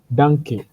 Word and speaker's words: danke: So danke, that's how you say it in German.